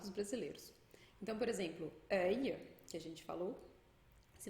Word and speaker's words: œil: final da palavra, com œil, aille, eille, ouille. Vou dar alguns exemplos aqui. A gente pronuncia esse L como se fosse um I curtinho.